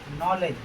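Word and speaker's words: knowledge: नॉलेज। नॉलेज माने क्या होता है? ज्ञान। यहां पर भी बी के बाद क्या आया है? जी। इसलिए भी यहां पर भी डी का उच्चारण नहीं होगा।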